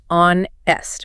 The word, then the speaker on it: honest: But the h is silent. You pronounce it onest which is an o vowel sound.